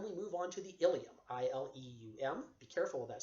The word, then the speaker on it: ileum: All right, but anyhow, the ileum is, be careful of that spelling because there's another word in your body pronounced ileum, I-L-I-U-M.